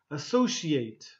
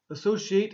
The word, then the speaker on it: associate: This word here, associate. Associate is the verb, and the noun is associate, okay?